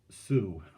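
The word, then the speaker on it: Sault: tomorrow on the long sioux here's another word s-a-u-l-t is pronounced sue don't ask me why it's the english language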